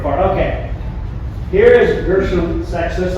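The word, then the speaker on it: Seixas: I always pronounce his name sexist. If anybody hears of another way to pronounce his name, even if an if an authority like somebody famous tells you, just know that that person is wrong. And I'm right.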